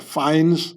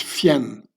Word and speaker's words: Fiennes: It's not a fine, you know, they're not fined by the police or a fines, no. It's Fiennes.